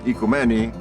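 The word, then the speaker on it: οικουμένη: The word ecumenism comes from the Greek word ekumeni, as it's pronounced in modern Greek, which means household.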